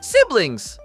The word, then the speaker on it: siblings: O som inicial dessa palavra é parecido com C, como na palavra sede do português. Já a parte final soa como blanks. Siblings.